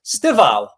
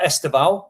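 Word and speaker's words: Estêvão: So, I'm going to go for Chelsea's Stalo, not Estao. He pronounced it Stalo.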